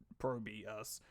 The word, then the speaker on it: ProBUs: And yes, I do know it is actually ProBUs. Because, well, that is phonetically how they want it pronounced.